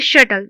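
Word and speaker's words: subtle: Next है हमारा इसको बोलते हैं शटल। बी साइलेंट होता है और एल टी वाई लग गया तो शर्टलिटी।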